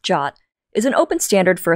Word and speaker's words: JWT: JSON web token or JWT pronounced Jot is an open standard for a stateless lightweight JSON artifact.